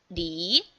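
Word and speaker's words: 梨: This L like English pronunciation, and here is E. So with second tone, we read it as Li.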